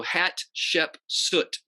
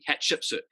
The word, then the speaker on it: Hatshepsut: And it's kind of easy to say her name if you think about it in different segments. So Hatshepsut, hat like a hat, Shep, Shepsut, Hatshepsut.